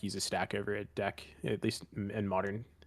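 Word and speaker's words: deque: like they'll just use a DQ or it's called a deck. DECK is like the pronunciation. Yeah, yeah. But I've never really seen anyone like use a stack over a deck, at least in modern C++.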